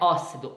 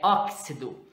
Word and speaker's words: óxido: léxico óxido óxido né no caso não é ó sido é óxido por causa que tem a pronúncia do cs oxigênio tóxico a toxina